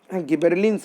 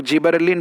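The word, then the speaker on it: gibberellin: Pronunciation आप अलग अलग पाएंगे, किसी बुक कुछ लोग जो है वो गिबरलिन पढ़ते हैं, कुछ लोग जिबरलिन पढ़ते हैं, कुछ लोग गिबेरेलिन पढ़ते हैं। तो बहरहाल चलेगा, कोई भी प्रोनाउंसिएशन आप यूज़ कर सकते हैं।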